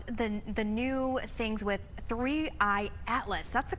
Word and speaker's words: 3I/ATLAS: But let's talk about the the new things with three Atlas. That's the correct way to pronounce it, correct?